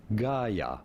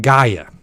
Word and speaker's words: Gaia: if you wish how do you go about pronouncing it it is a word named after a greek god by the way gaia i did i said it right gaia so big shout out to gaia stateful you